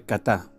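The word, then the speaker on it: חָטָא: Y la palabra pecaron, o pecar del hebreo, se escribe katá, K-H-A-T-A.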